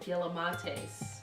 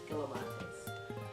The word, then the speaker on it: Galimatias: So this group is called Gilamates. I think that's how you say it. It's G-A-L-I-M-A-T-I-A-S, Gilamates.